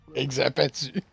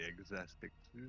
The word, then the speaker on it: Exaspectu: Ben, c'est exaspectu. C'est comme un aspect. C'est juste que tu mets le mot ensemble, toi, sur ces deux mots.